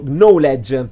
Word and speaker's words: knowledge: Knowledge dovrebbe essere tipo knowledge, dove però la K iniziale non si legge.